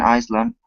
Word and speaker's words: island: This word here, however, it does not have an S. I know it has an S in the spelling, but when we say it island. Island Yes. is not S? No, it's a silent S.